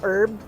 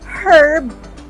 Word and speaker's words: herb: this is um Indian herb cumin add okay so you can call that herb herb or herb both pronunciation is correct herb or herb okay